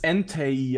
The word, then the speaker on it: Entei: Auch laut dem dritten Pokémon-Film in Deutsch wird es Entei ausgesprochen.